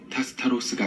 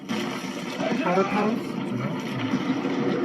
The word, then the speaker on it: 타르타로스: 이 복잡한 미로 속 어딘가에 타스타로스가 있습니다. 타르타로스죠. 이 사람 자꾸 잘못 발음하네.